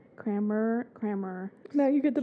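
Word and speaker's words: Kammerer: pronouncing names hammer is c k a m m e r e r kramer there's no r uh before the a oh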